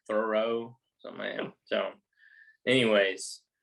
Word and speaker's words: Thoreau: e h u but they pronounce it throw thoreau some man anyways it's